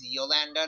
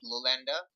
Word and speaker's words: Yolanda: It is Yolanda, not Lolanda.